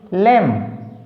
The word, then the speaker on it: lamb: LAMB लैम, B silent.